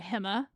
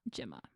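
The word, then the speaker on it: Gemma: pronunciation of her name, she does want to go by Himma or Jim. Yes, Himma Nunees or Gyms, I think is what her teammates call her, not Jimma.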